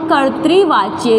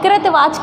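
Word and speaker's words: कर्तृवाच्य: पढ़ चुके थे हम कर्त्री वाच्य इसको सही उच्चारण करना है मैंने आप आपको बताया था कुछ लोग कृत वाच्य कृत वाच्य बोलते जो बिल्कुल गलत है तो ऐसा नहीं करना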